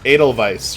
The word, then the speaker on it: Edelweiss: So it's Edelweiss, right? It's not Weiss. It's pronounced with a V sound, right?